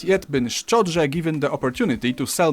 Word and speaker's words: szczodrze: Wait, so, is he combining the D and the RZ together, kind of? Szczodrze. Sz, ch, o, d, ż, e. Szczodrze. Okay, so it's like kind of so szczodrze. Like he's really finishing the pronunciation of that D, like szczodrze.